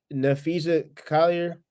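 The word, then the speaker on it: Napheesa Collier: Oh, like I don't know, Nafisa Collier.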